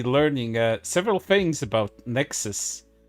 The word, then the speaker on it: NEXAS: uh several things about Nexus which kind of sounds like Nexus you know the one